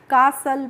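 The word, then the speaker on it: castle: क्योंकि जब भी किसी भी वर्ड में एस के बाद टी आती है यहां पे जो टी होती है, इसको हम साइलेंट रखते हैं। यानी कि हम इसको नहीं पढ़ते हैं।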